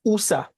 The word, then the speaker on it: Oussa: And it's Oussa, like when you're meditating, Oussa. There you go.